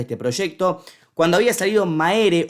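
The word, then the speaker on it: Mære: Cuando había salido Maere o Mer, como se pronuncia, habíamos charlado con JJ, la voz de la banda.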